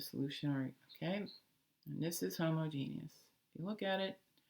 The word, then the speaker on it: homogeneous: that word is pronounced homogeneous not homogeneous homogeneous when you see it written you'll see there is that e in the middle there that people keep dropping all right so hold